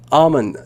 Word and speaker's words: Armin: Now, Armin, that's your first name, right? Am I saying it correctly? Yes. Yes.